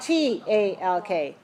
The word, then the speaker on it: talk: walk is one of those words what about ta LK talk talk talk how about CH ALK chok